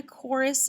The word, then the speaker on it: chorus: to do something else we really don't hear the silent letter h so we're going to cross out the h so you just have that k backed c because that is the sound okay so that is